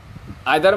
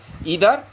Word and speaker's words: either: এখানেও উচ্চারণ নিয়ে কেউ মনে করতে পারেন ইদার অর নিদার, both প্রোনাউন্সিয়েশনস R correct.